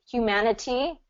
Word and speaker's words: humanity: that tap t thing you can say Humanity that's just fine but um a lot of native speakers are going to change that t to a d pronunciation because of the vowels that surround it so that's that tap t rule when a t is surrounded by vowels a lot of times native speakers use a d okay so say that